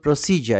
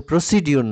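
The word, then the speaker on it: procedure: আপনারা জানেন টু সব ভার্বের প্রেজেন্ট ফর্মকে ইনফিনিটিভ বলে টু ওভারসি এরাইভল প্রসিজার এটা কিন্তু প্রসিডিউর নয় প্রায় 90 পারসেন্ট শিক্ষিত মানুষ এটাকে বলে প্রসিডিউর প্রসিডিউর না প্রসিজার আসলে আপনারা খেয়াল করে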